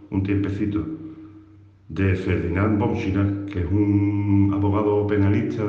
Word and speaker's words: Schirach: Schirach, pronunciado en español. S-C-H-I-R-A-C-H. Schirach.